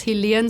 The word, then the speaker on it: Helan: everyone my name is helan so my name is pronounced like the element helium but with an N at the end instead of an m and pool that's